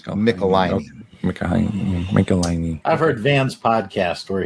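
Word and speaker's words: Michelinie: and they wrote back it rhymes with pickle my knee so it's mickelein i've heard van's podcast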